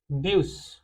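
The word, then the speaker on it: bus: ब्यूस, okay, ब्यूस। ब्यूस क्यों? क्योंकि यू जो है हमारा हर जगह यू जैसा ही साउंड करेगा।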